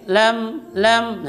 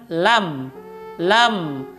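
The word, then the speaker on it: لَمْ: yang ketiga kufuwan Ahad kesalahan ketika menyebut walam itu biasanya seperti yang diatas tadi Dia membacanya lainnya dengan mereng lem lem itu salah tapi bacalah dengan benar dengan membuka mulutnya yaitu dengan lam lam dan kesalahan lagi seperti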